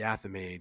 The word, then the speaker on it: athame: sorry, I Athame. didn't know how to pronounce it, and I did not want I'm to.